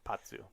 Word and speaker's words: Pazu: Patsu, yeah, that's right. It has a Z. I know, but it's that kind of Italian pronunciation of the Z, Patsu.